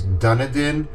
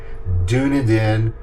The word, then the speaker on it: Dunedin: I've heard different people pronounce it one of three ways: Dunedin, Dunedin, or Dunneedin.